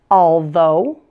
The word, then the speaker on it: although: have oh ugh Spelling's four of these words pronounced oh ugh Oh like the sound in the words show or low say them with me though although doe and burro if